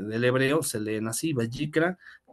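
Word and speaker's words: ויקרא: hebreo sería bicra Y entonces así se le vayikra esas letras un poco raras verdad o este del hebreo se leen así vayikra y en español se traduciría bicra como y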